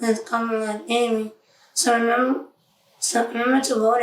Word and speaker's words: Kamala: When my grandmother had the same exact name, it is pronounced as Kamala Daly.